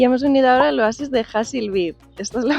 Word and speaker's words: Hassi Labied: mucha orientación y hemos Unido ahora loasis de hil be Esta es la pronunciación Aquí tengo el detrás que me dice